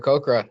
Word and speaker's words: Aarakocra: Yeah, an Aarakocra, and all black feather, kind of looks like a raven with blue eyes.